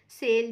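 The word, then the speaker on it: sail: जब दो वॉवल्स एक वर्ड में एक साथ यूज होते हैं, तब पहले वाले वॉवल का साउंड आता है और दूसरा वॉवल साइलेंट हो जाता है. जैसे यहाँ पे सेल में ए का साउंड आएगा लेकिन आई साइलेंट रहेगा.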